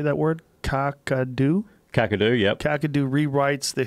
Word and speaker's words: Kakadu: Kakadu.